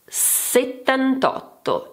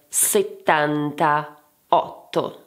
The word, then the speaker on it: settantotto: Settantotto and not settantaotto*.